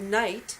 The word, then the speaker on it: knight: If the word night, which sounds exactly the same, is spelt with a K in the front, then it means something